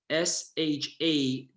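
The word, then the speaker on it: שדי: So to spell it out to you, the second name is not Shakai with a K, but rather with a D. Shadddi.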